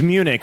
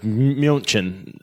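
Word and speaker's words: München: they prefer youjin yeah it's it's Munich we call it Munich but in America but Muchin I'm sure I'm saying it with the wrong accent but that's how they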